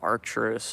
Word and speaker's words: Arcturus: I just pronounced Arcturus.